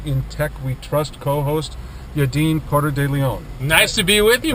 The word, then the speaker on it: Yadin Porter de Leon: today is my in Tech We Trust co-host yaden Porter de Leon nice to be with you mark nice to have you excellent pronunciation of my last name in fact I've